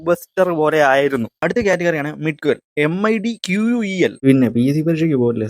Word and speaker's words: midquel: അടുത്ത കാറ്റഗറിയാണ് മിഡ്ക്വൽ. MIDQUEL. പിന്നെ PSC പരീക്ഷയ്ക്ക് പോകില്ല, സ്പെല്ലിംഗ് ഒക്കെ പഠിക്കാൻ. ഒന്ന് പറഞ്ഞേ, മിഡ്ക്വൽ. മിഡ്കൊൽ എന്താടാ ഇവന്റെ ഉച്ചാരണം തീരെ ശരിയല്ല.